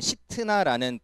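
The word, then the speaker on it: שִׂטְנָה: 자, 이번에는 그래서 그곳 이름을 신나라고 짓는데 어, 이제 원어로 발음하면 시트나라는 단어이고이 우리가 잘 아는 사탄이란 단어랑 어원이 같은 단어예요.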